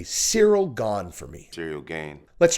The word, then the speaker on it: Gane: that no doubt go ahead and say Cyril gone for me serial gain let's try again Cyril gone material gain Cyril gone material gain I feel like you're doing this on purpose